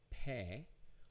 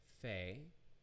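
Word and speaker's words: פ: to the ph sound it's pronounced pay or can spell it with an f f and that would be fey so we have pe or fe and then we have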